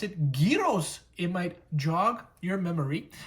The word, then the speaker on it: gyros: Los Angeles, and we're going to be reviewing Gyros. Now, I know you may not know what the gyro is, but maybe if I pronounce it gyros, it might jog your memory.